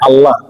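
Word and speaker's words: الله: তো আল হামজা বললে হয় আল্লাহ। আর যদি আইন বলি তখন কি হয়? তখন আল্লাহ বা অন্য একটা শব্দ হয় যার অর্থ উপরে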